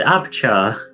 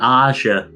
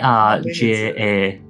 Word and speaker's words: Arja: You just said Abchar. Yeah, that's You not. did. Is that not what it is? No, Arja. Aja, sorry. Yeah, Arja.